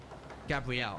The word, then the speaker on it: Gabriel: Gabrielle, how do you say that name?